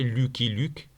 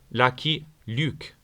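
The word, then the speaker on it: Lucky Luke: et mes préférés bien sûr Luckil prononcé en français Lucky Luuk et en anglais Lucky Lucuk.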